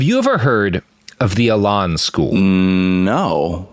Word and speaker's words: Elan: Have you ever heard of the Elan School? No. How do you spell it? E-L-A-N, like the French word, Elan.